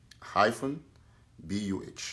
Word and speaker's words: Ngabu: Ngabu is spelled Ngah-BUH.